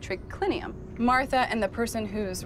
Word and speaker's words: triclinium: CL i n um in latin it's spelled as it sounds but here tricky lynnium